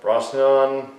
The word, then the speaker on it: Brosnahan: The new Lois Lane, played by Rachel Brosnahan, well, that's how you pronounce it.